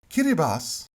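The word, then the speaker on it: Kiribati: so we arrive at the unfortunate archipelago of kiribas kiribas yes that is how you pronounce it is a far-flung speckle of Pacific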